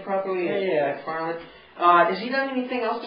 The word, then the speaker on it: MacFarlane: Am I pronouncing his name properly? Yeah. MacFarlane.